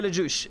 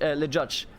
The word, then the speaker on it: le juge: Shut up already, Monsieur le Juge. Le Judge. How do you say it in French? Le Juge.